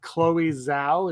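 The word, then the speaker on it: Chloé Zhao: So apparently, is it Chloe Zhao?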